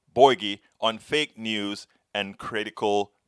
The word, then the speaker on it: Bouygues: then helen lee uh she told me how to say this i her name is helen lee boykies boy boy borgie helen lee borgie on fake news and